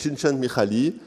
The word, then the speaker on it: Csikszentmihalyi: Après, on a, alors je vais vous dire comment on le prononce, que c'est un peu difficile, c'est Csikszentmihalyi, donc c'est un auteur qui est de Chicago et qui a travaillé sur la notion de plénitude.